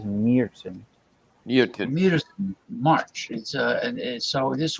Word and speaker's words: Märzen: So they say the correct way to say it is Märzen.